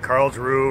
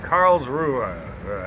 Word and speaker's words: Karlsruhe: kind of hesitated because I've been mispronouncing it I said Carl true or Karlsruhe but it's like Karlsruhe at whatever so this